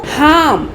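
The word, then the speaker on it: harm: will do them know हार्म एच ए आर एम हार्म इसमें are silent होता है हम आर का र साउंड नहीं निकालते हार्म होने का मतलब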